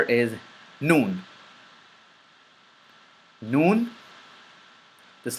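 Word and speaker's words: ن: from the tongue and this letter is pronounced by or characterized by the lips remaining open and the tongue remains behind your teeth teeth but the sound just like the meme and the sound and air comes from your nasal passage so it's like thison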